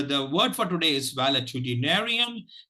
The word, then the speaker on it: valetudinarian: word for today is validity narian it divides itself into seven syllables and if You observe